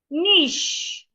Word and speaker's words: niche: My dad would normally pronounce this word as cashache. That is wrong. He say cash. Niche.